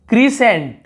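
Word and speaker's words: crescent: यहाँ पर देखिए क्रीसेंट, क्रीसेंट, यहाँ पर भी सी को नहीं पढ़ना है, वर्धमान।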